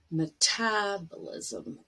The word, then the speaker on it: metabolism: And the last one, but the syllable stress is on tab, metabolism.